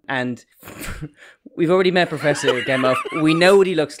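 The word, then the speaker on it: Gamow: I was wondering, actually, you say Gamov, and that would be how I pronounce it, but in general, Americans don't tend to do the V for a W. But from the research, it's definitely Gamov, yeah.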